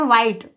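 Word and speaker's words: white: में होगा ठीक है तो व ह आई टी से क्या पढ़ेंगे व्हाइट इसी प्रकार से यदि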